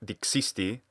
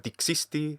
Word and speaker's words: dixisti: If it were a short dixisti, as this actor pronounced it, it would have to be dessi instead of dissi, but it is dissi in Italian. So instead of dixisti, we should hear dixisti.